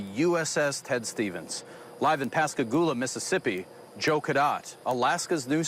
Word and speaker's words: Pascagoula: You said it right. Pascagoula.